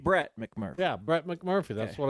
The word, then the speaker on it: Brett McMurphy: Brent McMurphy. Brett McMurphy.